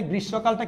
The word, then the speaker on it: গ্রীষ্মকাল: এখানে গ্রীষ্মকালটা কিরকম হচ্ছে দেখেন, গ্রীষ্মকাল। দেখেন এই গ্রীষ্মকাল কেন? ওই যে আমরা বলেছিলাম মফালা যদি মাঝখানে থাকুক বা শেষে থাকুক এটা দ্বিতীয় উচ্চারণ হবে, উচ্চারণ হচ্ছে না বা দ্বিতীয় উচ্চারণ হচ্ছে।